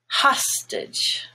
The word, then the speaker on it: hostage: and it's stressed now if you take the word hostage the stress is on ha stitch which then makes the a no longer gray but just schwa it's hostage band is black but